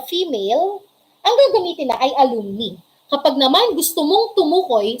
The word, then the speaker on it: alumni: Alumni. It's not alumni, it's pronounced as alumni.